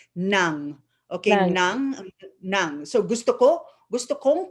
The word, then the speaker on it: ng: NG in the Philippines is pronounced nang.